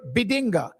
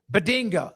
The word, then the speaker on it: Bedinga: Is Bedinga how you pronounce it? Bedunga. I think it's Bedunga. Yeah, Bedinga. I'm pretty sure it's Bedunga, but I just want to make sure on that because I don't always know the right pronunciations of that.